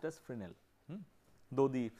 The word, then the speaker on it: Fresnel: So, this is called the idea of the it is not pronounced as Fresnel, it is pronounced as Fresnel, though the spelling is Fresnel.